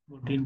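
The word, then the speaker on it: Gurteen: बिल्कुल, that is Humphry गर्टीन, गर्टीन बोल सकते हैं, in just pronounce the write name.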